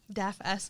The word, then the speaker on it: DAFS: DAFS, okay. I used to spell it.